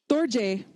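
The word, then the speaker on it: རྡོ་རྗེ: We've got 2 syllables here. We've got do, we've got j. But when we put them together, it becomes dorje. All of a sudden, that ra head letter is pronounced why? Do ends in a vowel. Absolutely. But hey, we don't pronounce it on top of the do.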